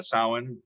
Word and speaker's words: Samhain: Zoom absolutely yeah so you were saying uh Salin which is which is spelled Samhain that's correct so yes that would